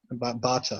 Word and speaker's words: Bata: Yeah, Bata, okay? yeah. Bata, yeah. That's it, yeah. That was my pronunciation as well.